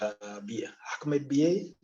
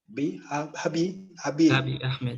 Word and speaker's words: Abiy Ahmed: If you follow the news of the region, you know that President Ahmed Bie, is that his, what's it, how do you pronounce the name of the Ethiopian, the head of government, Abiy Ahmed.